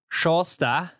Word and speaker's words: Sjaastad: I think it's Jorstar. Jorstar. Jorstar, as he told us.